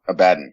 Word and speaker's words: Abaddon: Abaddon is the correct pronunciation. That's how Yeah, Games Workshop pronounces it.